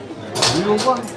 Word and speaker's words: Louvre: Louvre. La Luz. The trick is only pronounce half the letters.